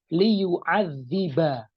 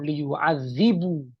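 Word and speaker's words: لِيُعَذِّبَ: Jadi di sini dibacanya liyu'adziba, bukan liyu'adzibu, tapi liyu'adziba.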